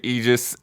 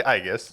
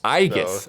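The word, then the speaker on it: Aigis: 3 DLC uh yeah Persona 3 reload episode egis the answer whoa so it's I it's actually aigus IUS okay it's pronounced IUS yeah okay um they just took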